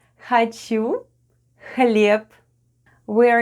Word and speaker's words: хлеб: The first sound is /hh/ and it's like English /h/ but we sound it out: /hh/, /hh/.